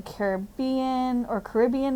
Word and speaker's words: Caribbean: There's flamingos in the Caribbean, depending on how you say it.